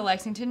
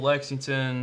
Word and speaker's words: Lexington: it they'll be coming that it's like he pronounced our Kansas all right Jeff it's okay point taken honestly if you come to Lexington now I'm convinced that you have to go